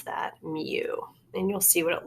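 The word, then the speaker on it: μ: that it's kind of funky U and we pronounce that mu and you'll see what it looks like as we're going through but that's how you pronounce it mu all right median does not have a symbol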